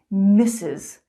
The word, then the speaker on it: Mrs.: they're so similar okay mrs mrs sounds like kisses mrs mrs misses miss sounds